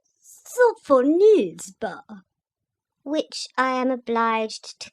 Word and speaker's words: Sophonisba: lips, and said again, with an aggravating accent on the third syllable. Sophonisba.